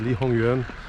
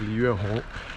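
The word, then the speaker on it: 黎元洪: I think I said Li Hongyuan instead of Li Yuanhong.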